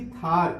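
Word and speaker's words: tahr: इस थार की जगह कई जगह तहर भी लिखा जाएगा, तो इंग्लिश में इसका उच्चारण थार होता है।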